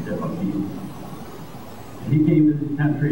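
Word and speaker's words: DeBakey: I think I can pronounce it correctly, Debeki.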